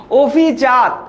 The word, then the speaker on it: অভিজাত: কিন্তু বিগত বছরের প্রশ্ন অভিজাত এটার উচ্চারণ হবে ও দিয়ে অভিজাত অঙ্গুলি এটার উত্তর